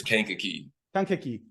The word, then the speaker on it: Kankakee: I need to ask is how do you pronounce Kankakee am I getting that right uh you are not completely wrong it's Kankakee right okay yeah Kankakee Illinois is where you're